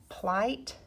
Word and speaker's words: plight: IGH, the GH is silent, but when it's after the I, it's going to make an I sound. Plight.